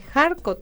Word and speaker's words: Kharkov: De 1980 a 1981 realiza estudios de idioma ruso en la Universidad Estatal de Kharkov, así se pronuncia.